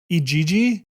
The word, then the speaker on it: Igigi: E G G? Yeah. I like my pronunciation better. Uh, the word Igigi is typically pronounced E G G. It comes from Akkadian Babylonian mythology referring to a group of heavenly spirits.